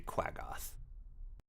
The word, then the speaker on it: Quaggoth: Malcolm would know this thing as a Quaggoth.